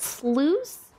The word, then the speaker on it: sluice: It's pronounced sluice, like juice, but with slew instead of the Jew sound.